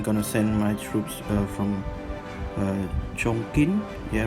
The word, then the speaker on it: Chongqing: flame so I'm gonna send my troops from Chongqing yeah right Chong Chong Qing it's if you pronounce it in English it's gonna be Chongqing